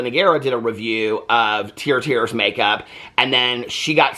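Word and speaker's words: TIRTIR: tier which is ti ti um and it's pronounced tier tier has been getting a lot of publicity lately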